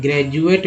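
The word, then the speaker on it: graduate: अब देखिए जैसे कि ग्रेजुएट लिखते हैं, ग्रेजुएट में जो डी है वो डी जो है ज के रूप में उच्चारण हो रहा है, ठीक है।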